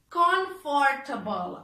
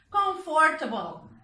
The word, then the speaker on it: comfortable: Comfortable. Atención cómo lo pronunciamos. Comfortable.